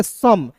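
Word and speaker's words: some: एस ओ एम ई को क्या पढ़ेंगे? सम। अब देखिए इसमें ओ और ई साइलेंट है।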